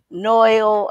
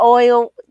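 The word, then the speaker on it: NYOIL: Y'all may know him as Kool Kim or Noil, not Oil.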